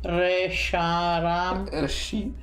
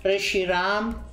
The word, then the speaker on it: Reshiram: Ma lì non si legge Luna qua. No. Reshiram? No. Resharam. Reshiram.